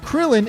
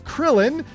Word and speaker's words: Krillin: Even though in English we pronounce it as krillin we come back to kurin.